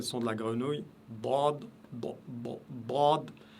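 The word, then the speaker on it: ḍād: Dad, Dad. Donc, vous devez, la bouche est pleine, la langue est prononcez ça de manière très très lourde et la langue elle s'étale sur à l'intérieur de la bouche. Dad, Dad, Dad. Donc, c'est un son plein et c'est un son très lourd.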